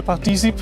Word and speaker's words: participe: The E is silent in participe. Oh, of course it is. Of course it is. Je participe à la première de Trackmania à l'EWC.